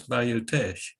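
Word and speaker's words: Bayou Teche: Well, I did not know how to pronounce Bayou Tesh.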